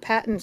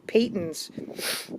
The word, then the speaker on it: Patons: It's actually not Patons. It's pronounced Patons.